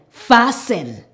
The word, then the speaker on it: fasten: Normally, when we have the ending S-T-E-N, we don't pronounce the T. It is sin. For example, f-a-s-sen, fasten.